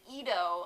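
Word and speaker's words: Eadu: the planets and then they said EO and I was like oh with like an i and then actually it's spelled e a d u I was like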